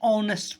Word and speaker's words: honest: Whenever, an hour, an honest person. Why? Because H is silent and it starts with O, sound of O.